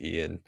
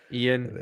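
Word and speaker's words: Ioan: yeah I think it's he pronounces it Ian Ian right okay people in Europe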